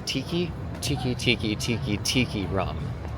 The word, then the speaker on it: Tiki Tiki Tiki Tiki Tiki Rum: I had the the tiki t or sorry, I said it wrong and the server was like making fun of me. The It's five tikis. the tiki tiki tiki tiki tiki rum. Yeah, because it says five times in the song.